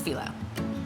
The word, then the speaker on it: phyllo: If you're not familiar, it's phyllo.